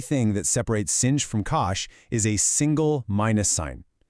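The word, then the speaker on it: cosh: The only thing, literally the only thing that separates singe from kosh is a single minus sign.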